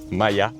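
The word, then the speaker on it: Maella: On se trouve en Basaragon euh près de la petite ville village euh Mae euh enfin Maya euh mais qui s'écrit Maeya.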